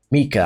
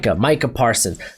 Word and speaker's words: Micah Parsons: I finally said it right. I keep wanting to say Micah. I don't know why, but it's Micah Parsons.